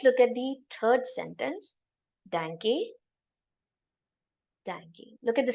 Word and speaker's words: Danke: Just remember it as a dank. Pronunciation is also like that. Tang. Dank.